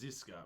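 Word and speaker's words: Žižka: there um I believe the pronunciation is zizka but uh yeah so there's like a little little like almost like a shallow V over the Z and a shallow V over another Z and yeah I'll look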